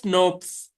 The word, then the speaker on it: snRNP: They are pronounced as SNRPs.